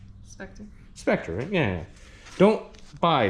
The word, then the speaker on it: Spectre: Spectra, right? How you pronounce that? How you pronounce that? Spectre.